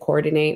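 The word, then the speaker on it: Koredinate: It's KORE-DINATE. You pronounce it coordinate. I was just being unique and different. And so it's pronounced Coordinate.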